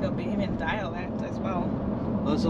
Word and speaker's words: Bahamian: How do you say that, Bahamese? No? Bahamian.